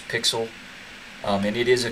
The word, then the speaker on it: PyXLL: going to use is called pixel it's how you pronounce pixel um and it is